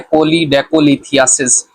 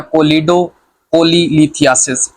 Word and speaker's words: Choledocholithiasis: आज का हमारा टॉपिक है कोलीडेकोलिथियासिस या कोलीडोकोलीलिथियासिस। ये डिफरेंट प्रोनाउंसिएशंस हैं जो कि डिफरेंट डॉक्टर्स बोलते हैं, तो हम इसको इस तरह लेके चलते हैं कोलीडेकोलिथियासिस।